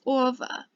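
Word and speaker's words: -ого: should end in over remember ge here is pronounced as ver so it's over so stari becomes okay for inanimate objects it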